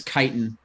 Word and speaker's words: chitin: would never be like, oh, I'm gonna use chitin to make armor. Oh. We're gonna get into a disagreement on how to pronounce that word, but that's Okay. okay. I think it's chitin, Oh, you're right.